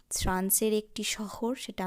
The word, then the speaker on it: chez: এখন যে প্রিপজিশনটি আমরা দেখব CHEZ, উচ্চারণ হবে সে।